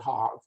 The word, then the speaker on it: Hague: there was a convention in hague some people pronounce it hog to try to simplify